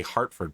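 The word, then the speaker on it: Hertford: I was I keep wanting to say Hartford, but it's Herford. It is actually pronounced Hartford in in the UK as well.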